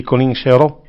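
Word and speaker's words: Coline Serreau: Di Colin Serrault. Poi trovate, Di Colin Serrault, si pronuncia così, bellissimo, sì.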